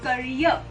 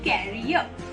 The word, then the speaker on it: career: The correct pronunciation is career. Career. I am worried about my son's career. बहुत सारे लोग इसको गलत तरीके से प्रोनाउंस करते हैं, लेकिन इसका सही प्रोनाउंसिएशन है career. So make your career and not carrier.